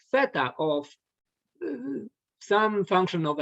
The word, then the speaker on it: theta: asymptotic notation um basically you can read it's pronounced theta the theta of whatever time function it's a